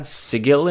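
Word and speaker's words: Sigil: and and they had Segel in it that's the proper way to pronounce it but they didn't really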